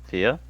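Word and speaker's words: Phia: to be doing you and your uh knowing FIA will probably be waiting at the dungeon entrance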